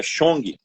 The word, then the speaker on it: Sheung: Não, tá escrito aqui, mas não é assim que pronunciei. Ele riu, falou: "Não, não é assim". Falei: "Como que é?" Ele falou: "É shong".